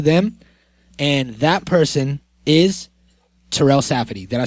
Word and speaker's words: Terell Safadi: And that person is Terell Safadi.